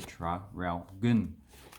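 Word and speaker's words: Traralgon: the rest we pronounce so that's how you pronounce it there try ralph goon and we've got sale you know that place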